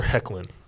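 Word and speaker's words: Hoechlin: So, the lead who plays Superman, Tyler, what's the correct pronunciation of it? Tyler Hecklin.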